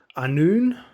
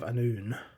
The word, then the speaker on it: Annwn: And then I read Evangeline Walton's The Prince of Annwn. I believe that's how you pronounce it. I believe that W is a U sound. So, Prince of Annwn.